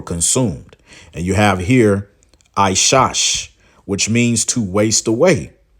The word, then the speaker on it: Esau: a goddamn lie because how you pronounce his name is aash okay AA aash right which means wasted okay